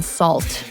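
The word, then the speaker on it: SAULT: And then Salt, that's spelled S A U L T.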